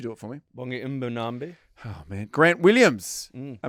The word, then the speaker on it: Mbonambi: Bongi Mbonambi.